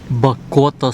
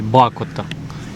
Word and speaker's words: Бакота: Бакота спа. Ой, Бакота. Я вибачаюсь за невірний наголос.